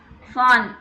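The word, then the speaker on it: von: சொன்னால் என்ன யூஸ் பண்ணும், ஃபான். ஃபான் வி வந்து எஃப் ப்ரொனவுன்ஸ் பண்ணும். ஞாபகம் இருக்கா, ஆல்பபெட் படித்தோம் இல்லைங்களா. வி வந்து எஃப் ப்ரொனவுன்ஸ் பண்ணுறோம் இல்லைங்களா, அதே மாதிரி தான்.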